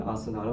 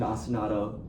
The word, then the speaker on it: ostinato: Do we all remember what I said an ostinato was?